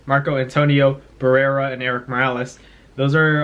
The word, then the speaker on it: Barrera: not a big deal you know marco antonio browse eric morales those um those fights those fights happen did i say it right marco antonio barrera and eric morales those are all fights that